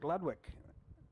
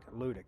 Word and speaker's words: Ludick: Lewick or Ludick, sorry. Sorry. I'm getting your name wrong all day. I will get better at it. Ludick. Ludick.